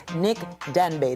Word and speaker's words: Denbeigh: Joining us now in the studio is a well-accomplished film and TV actor and model, no other than Nick Denbeigh. Did I pronounce that right?